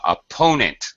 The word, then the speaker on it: opponent: the ball okay uh opponent second syllable stress opponent opponent that's good all